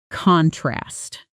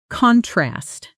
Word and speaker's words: contrast: Contrast. That's the noun. Like There's a clear contrast between the two designs. Now say it with the stress on the second part. Contrast. That's the verb.